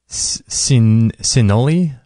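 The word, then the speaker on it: cineole: And one of the compounds in it is called, it's hard to pronounce this, C-I-N-E-O-L-E, Cinnoli, is responsible for a lot of these traits.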